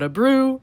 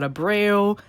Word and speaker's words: Abreu: Try to pronounce Ale Abreu's name. It's not Abreu, it's not Abreu, it's Abreu.